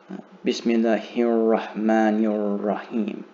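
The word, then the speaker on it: بسم الله الرحمن الرحيم: So in total, I'm saying Bismillahir-Rahmanir-Rahim. And make sure you pronounce this alif. So I'll pronounce it even slower. Bismillahir-Rahmanir-Rahim.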